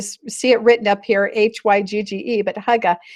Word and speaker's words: hygge: Now, here's another word, and it's pronounced hygge, like you see it written up here, Hygge, but hygge.